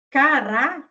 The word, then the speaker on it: cará: Então, cará é a segunda sílaba que é tônica.